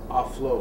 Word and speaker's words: aulos: There was just literally no human endeavor in ancient Greece that could not be accompanied with the aulos, or as modern Greeks pronounce it, aflos.